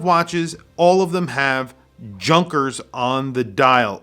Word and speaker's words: Junkers: all of them have junkers on the dial it's actually pronounced yonkers which is not very apparent to a person that's in the united states now i say that